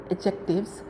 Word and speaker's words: adjective: D is silent in this word, so you will pronounce it adjective.